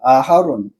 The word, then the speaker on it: 아하론: 또 아론도 아하론입니다. 두음절 아론이 아니고 새음절이에요. 아하론.